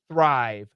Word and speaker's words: thrive: so there's a THS so when you do a th sound your tongue must be must be between your teeth thrive thrive when you do